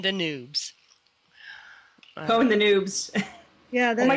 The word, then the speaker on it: pwn: another, keep calm and pawn the noobs. Pwn the noobs. Yeah. Oh my gosh, I had to get it together. Just kidding. I've always pronounced it pawn. You know, it actually comes from chess.